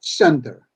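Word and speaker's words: Centre: sentre like in French or English but it's pronounced Center anyway yeah yes and and and but besides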